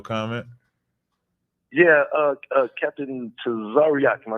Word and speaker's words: Tazaryach: right yeah okay um ain't no e in this man just say to zaryak just say it like that sorry yeah there you